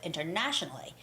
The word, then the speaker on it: internationally: i know internationally internationally normally when the word is international it's the same the internet the third syllable has the stress so it's international and it's the same with internationally internationally and the word